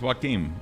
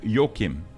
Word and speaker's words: Joaquim: I believe your name is not pronounced Joaquim as it would be in English, but instead Joachim or Joachim. Is it Joachim?